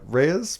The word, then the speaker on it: Reyes: Uh did the uh Reyes brothers, am I pronouncing that correct? That is correct.